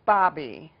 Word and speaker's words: bObi: right I should ask how to Bobby it's pronounced Bobby it looks like pony buddy I don't what's